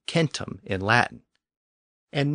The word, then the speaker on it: centum: word for 100 was Kum spelled c n tuu m keep in mind that the C was always pronounced as a K in Latin in Sanskrit the word